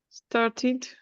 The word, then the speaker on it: started: started. When it finished with st, we add ed and we pronounce like id, because if not, it doesn't sound.